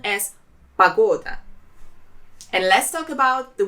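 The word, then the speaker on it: погода: weather pas go da there are three syllables in this word and the second one is stressed Pagoda and the important note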